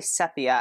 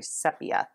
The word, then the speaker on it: sepia: and daniel Smith green gold I always say Sofia I don't know why they believe the correct the correct pronunciation is we sepia or CPS shoot you see I just did